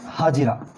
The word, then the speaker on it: हाजिरा: उसका नाम था हाजिरा। लिखने में हम उनको हागर लिखते हैं पर प्रोनाउंस इनको हाजिरा करते हैं हिंदी में।